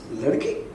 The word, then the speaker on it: Ladki: You know, so in my, it's not like Ladki, it's Ladki. That is how I pronounce it in my mind, and you know, that might not come in the just to see the logo.